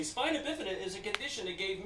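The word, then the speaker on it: spina bifida: W the crutches in the air now it's pronounced spinabifida and the reason I say that cuz I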